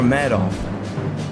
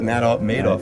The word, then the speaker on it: Madoff: But the Madoff guy was the guy that Madoff. I think it's Madoff is how you say it. Madoff. He made off with billions.